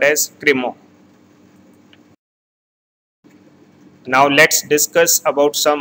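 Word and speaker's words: Crémant: It is pronounced as Cremant.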